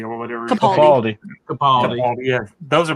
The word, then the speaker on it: Capaldi: with Baker and the I can always pronounce this. It's a holiday special, Peter right? Catapaldi or whatever. Capaldi.